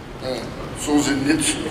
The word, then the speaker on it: Solzhenitsyn: It's a quote of Solzhenitsyn. Am I pronouncing that right?